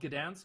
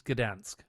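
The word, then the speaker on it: Gdańsk: It's Is it called Gdansk? Okay, in English it's Dan. I think in German it's Danig, but in in Polish it's Gdansk.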